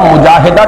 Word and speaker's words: مجاہدہ: جائیں گی۔ جہد سے مجاہدہ، اصل میں ہم مجاہدہ کہہ دیتے ہیں، عربی میں اس کا تلفظ مجاہدہ ہوگا، اس لیے کہ یہ باب ہے مفاعلہ۔ اور اسی کا جہاد۔